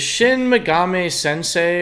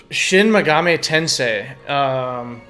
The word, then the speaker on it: Shin Megami Tensei: Is Shin Megami Sensei or Sente or Tente Shin Megami Sensei?